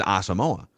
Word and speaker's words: Asamoah: the official pronunciation guide by the team is asamoa but he has he has pronounced it differently on different platforms including a